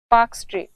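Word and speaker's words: Palk: जलसंधि उसका नाम है पाक जलसंधि इंग्लिश में ये स्पेलिंग में ल भी आता है पर ये ल साइलेंट है तो ये पाक जलसंधि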